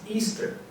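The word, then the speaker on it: Oestare: first week in April the way you would spell the name of this holiday was o e s T ar e pronounced Easter that was celebrated for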